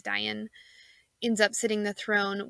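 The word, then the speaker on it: Dáin: It ended up being his cousin Dian, which in the movie I believe is pronounced Dane, but I believe it is Dian, ends up sitting the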